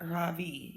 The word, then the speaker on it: Ravi: Ravi pushes his glasses up and rubs his nose. Then he puts his shoulders back and stands really straight. My name is not Ravi, he says. It's pronounced Ravi.